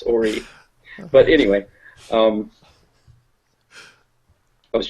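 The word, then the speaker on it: Horry: these other three are from um Orie County which is h o r r y um usually improperly pronounced Hy um which is it's rude there could be some areas that are Hy but um but pronounce Orie but anyway um I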